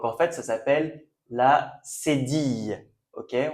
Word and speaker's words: cédille: On prononce cédille comme yeux. Ok? Cédille. Et là, vous voyez, vous avez un E accent aigu. Donc normalement, vous êtes des pros maintenant. Vous savez qu'on dit cédille.